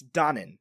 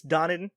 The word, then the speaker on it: Donen: directed by Stanley Donen I think it's Donnan not Donen it's spelled Donen but it I believe it's donning I think that's how Ben mankiewicz told me to pronounce it I put money on